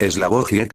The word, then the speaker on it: Slavoj Žižek: Eslabojiek, pronunciado Slik.